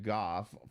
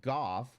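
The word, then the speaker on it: Gogh: at all it's pronounced Goff which is not the typical way to pronounce it by American English um do I care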